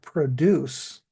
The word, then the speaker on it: produce: So some English words that are verbs become nouns and the pronunciation changes and produce is one of those words. So the word produce is the noun.